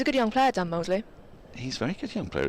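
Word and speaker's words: Moseley: it's spelled differently it's spelled mousely but is pronounced Mosley he's a good young player Dan Mosley he's very good young player isn't he very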